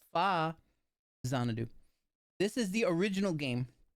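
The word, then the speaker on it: Faxanadu: especially about an old game that everybody called Fax Anadoo, but it's actually pronounced Fazanadoo. And I'm torturing people with that fact. But you see, look, there he goes. There you go. No, no, no. It's FA Zanadu.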